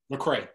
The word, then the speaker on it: Lecrae: Is it Lecrae or Lecrae? Lecrae, yeah.